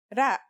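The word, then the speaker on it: راء: Its closest English counterpart is the letter R, but it's a different sound that must be learned. Ra.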